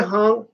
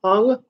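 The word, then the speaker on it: Huang: Go see Raina Hong, Haung, but I think it's pronounced Ong.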